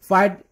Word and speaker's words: FITE: फाइट pronounce as अ फाइटर guys, फाइट ठीक है, फाइट एज a machine जैसे मैंने बताया.